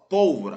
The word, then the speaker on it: pólvora: letra b de bola pólvora pólvora pro paroxítono na letra C trôpego